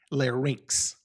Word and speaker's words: larynx: It's pharynx, larynx. Okay, so you want to pronounce it like rinks, R-A-N-K-S, like a skating rink.